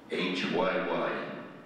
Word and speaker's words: WHYY: Notice how that's pronounced? It's WHYY.